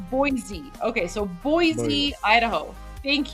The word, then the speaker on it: Boise: Oh, guys, we have people who are Okay, so it's pronounced Boise. Okay, so it's not boy, it's Boise.